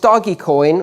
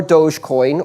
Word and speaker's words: Dogecoin: breed of dog on the front and is pronounced doggy coin or dogecoin or dog coin and i'm not quite sure but it doesn't